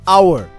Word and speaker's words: hour: example in the word our the H is silent it begins with a vowel sound ah so we use